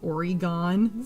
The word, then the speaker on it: Oregon: There's, if you say the E at all, it's very subtle. It's either Oregon or Oregon, not Oregon.